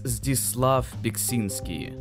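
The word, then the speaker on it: Zdzisław Beksiński: Belinsky? I believe it's Zdislav Biksinski.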